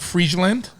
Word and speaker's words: Friesland: I got my man Johannes on, who you might know as the Crown Prince of Friesland. Did I say it right? Friesland? You did. Yes, you did.